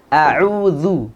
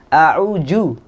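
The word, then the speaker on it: أعوذ: Za ada di ujung lidah ketemu dengan ujung gigi seri yang atas ya. A'udzu. Nah, kebanyakan kita membacanya dengan a'udzu. Banyak tuh Ustaz, Zu banyak pakai banget. zai ya, atau bahkan kadang ada yang membacanya dengan jim. A'uju. Lebih jauh lagi ya. Lebih jauh lagi. Nah, tengah-tengah lidah padahal kita di ujung lidah gitu ya.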